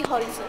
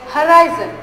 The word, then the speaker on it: horizon: I want to shine and go beyond the horizon. No, Nandini, this is not the right pronunciation. The right way to say it is horizon.